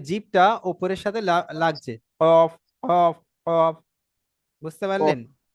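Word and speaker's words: كاف: কেমন উচ্চারণ হয় কাফটা হচ্ছে জীবের গোড়া থেকে একটু আগে অর্থাৎ সামনের দিকে এসে একটু আগে বাড়িয়ে তার বরাবর উপরের তালুতে লাগিয়ে এটা যেমন শুরুতে একদম গোড়া দিয়ে আপনার কফ উচ্চারণ হচ্ছে এটা সামনের দিকে কিছুটাই এসে কাফ দেখেন কাফ কাফ প্রায় মাঝা বরাবরের একটু মাঝ বরাবরের একটু আগে বুঝতে পারলেন মানে মানে গোড়া থেকে একটু দূরে এসে কাফ কাফ বুঝতে পারলেন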